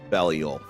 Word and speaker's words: Belial: And it is in-game pronounced Belial. I can tell you that for a fact.